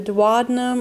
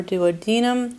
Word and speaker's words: duodenum: so we have the dadum or duodenum remember pronunciations vary on this turning it